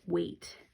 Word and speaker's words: weight: you can also make weight wages how much something does way okay so you can see that the e I is saying the a sound and the gh is silent wa8 okay about this